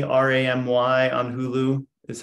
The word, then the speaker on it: Ramy: with her with me I started watching um Rami Ramy on Hulu is how it's spelled r-a-m-y it's a Hulu original it's brilliant